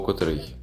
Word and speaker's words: котрий: на питання Скільки або котрий зверніть увагу у слові Котрий наголос завжди падає на закінчення наприклад о котрій годині